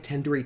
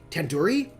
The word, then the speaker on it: tandoori: you at least recognize tandoori chicken you're saying it wrong wait really tandoori tandoori the dude isn't like door it's like doodoo head mm-hmm wait what no